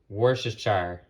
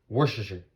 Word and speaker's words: Worcestershire: Who can pronounce it? Worcestershire. Worcestershire.